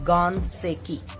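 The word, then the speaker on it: 岩石: Then we will pronounce it Ganseki.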